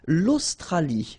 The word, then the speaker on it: l'Australie: L'Australie, l'Océanie, l'Antarctique, l'Eurasie, l'océan Atlantique, l'océan Pacifique. Okay, so let's see them one more time. L'Australie, final E not pronounced.